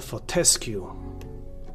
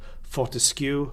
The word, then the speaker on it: Fortescue: Daniella Fortescue, director of quality assurance and compliance. Stress always falls on the second syllable, so Fortescue, and woe betide anybody who pronounces it Fortis-cue or Fort-skew.